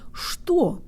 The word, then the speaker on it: что: I'm and today you'll learn how to pronounce the word store or what the Russian default mouth position makes